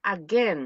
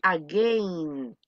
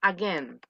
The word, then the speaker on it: again: Es again, no es again. La I en este caso desaparece. Entonces, ¿cómo se dice otra vez? Diga conmigo, again.